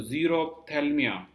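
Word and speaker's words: xerophthalmia: अगर आपने के बॉडी में कमी है तो जीरोप्थेल्मिया, यहाँ पर पी साइलेंट है, और इससे क्या होता है, स्कर्वी, ठीक है।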